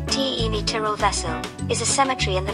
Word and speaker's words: Cimitirul Vesel: mary cemetery the merry cemetery romanian symmetra vessel pronounced t e miteral vessel is a cemetery in the village of sepanta